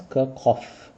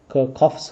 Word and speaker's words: Kirchhoff: Some people pronounce the name as Kirkov. Okay. I think that is the most correct pronunciation Kirkoff's current law.